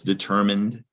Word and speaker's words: determine: looks like mind so a reminder that that e might not be pronounced there's the term mind